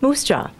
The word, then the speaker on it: MUUSJA: Universalist Social Justice Alliance, MUUSJA, pronounced Moose Jaw.